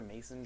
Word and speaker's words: Macon: around here, right around Macon, I believe you pronounce it, Macon, Georgia, Mason, Georgia.